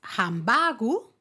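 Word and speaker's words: ハンバーグ: Una es hambagu. Hambagu y otra es hambaga. Hambaga. O sea, uno acabado en u y la otra ha acabado en a.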